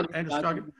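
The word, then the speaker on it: Androscoggin: all the oxygen in fish in the river, Anderskogen, is that how we pronounce it? Yeah, Anderskogen.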